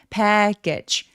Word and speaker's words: package: package 자, 패키지 아니에요.요 소리가 두 개거든요. 맨 마지막에 GE는 약간 울림이 있게게 즈라고 소리가 나는데 얘가 모음은 없이 소리가 나야만 해요.